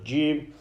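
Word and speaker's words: جيم: Jim, when pronounced when the center of the tongue touches the upper palate.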